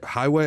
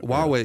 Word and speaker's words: Huawei: said if you let uh what is it highway how do you uh how do you pronounce that oh yeah they're um yeah huawei if he's like if you let them in